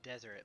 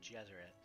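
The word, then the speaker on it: Djeserit: a desert family too is that pronounced Jesuit dude yes or it yeah Jesuit that makes sense I feel like for most of my life of Krause's desert but I think it's definitely supposed to be pronounced Jesuit I don't know why the DS there I guess maybe that's just make it look more ancient Egyptian yeah King shim it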